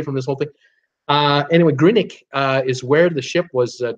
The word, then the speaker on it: Greenock: me here the the port is called is pronounced or spelled green on G R een Ock Greenock but you don't call it green knock no it's Greenwich it's Greenwich Greenwich Green ik what a heck do I know you know